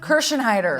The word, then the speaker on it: Kirschenheiter: still weathering the storms with a housewife Gina kersen heider yes hi did I say it right you